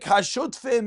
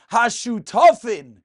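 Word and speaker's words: השותפין: more famous parakim, Perek Hashutfim, as most call it, but as Rav Asher Eli always says, Hashutafin, Sheratzu Lasais Mechitza. Yes, they're shutfim, but the appropriate pronunciation is hashutafin, partners.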